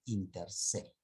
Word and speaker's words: inter se: solo caso han criado inter se. Ya está. Acá no está. Es junto esto. Se tiene que pronunciar junto.